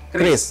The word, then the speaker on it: QRIS: Ternyata Kris kalau QRIS jadi Kris. Ini bukan karena di Solo banyak Kris ya. Iya. Memang bacanya yang kita sarankan adalah Kris gitu kan.